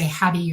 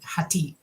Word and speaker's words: Hati: h hatti and yes her name is hati and we would say hadti or people would think of that because that's a name here but she pronounces it hati and she is a